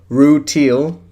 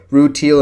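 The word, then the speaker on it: Rutile: a video on Pad Paracha and hold up, Rue Teal. Yeah, that's right. I pronounced it right this time. Screw you, commenters. I can pronounce the gems names right. Rue Teal and Pad Paracha.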